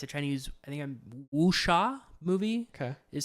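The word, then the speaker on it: wuxia: Uh it's a Chinese I think I'm Wooa movie. Okay, is how you pronounce it.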